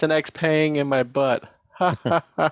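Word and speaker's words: Xpeng: they're like EX sh how do you say that X Pang not Shia you're like what xang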